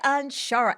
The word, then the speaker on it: Anshara: today this is uh sherry on onshara how do you say that right i want to make sure shari anshara and actually that was